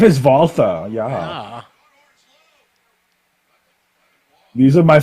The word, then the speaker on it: Walter: I pronounced it the German way, Walter.